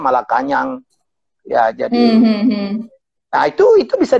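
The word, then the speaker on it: Malacañang: Jadi saya pikir itu adalah istana di Filipina itu bukan Malacanang, bacanya Malakanyang.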